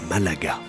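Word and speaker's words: Málaga: Mais les gens de la région prononcent Malaga.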